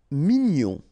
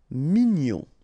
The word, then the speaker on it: mignon: Mignon. Okay, here in that case, G-N-O-N, nion. Mignon. Sourd. Final D not pronounced.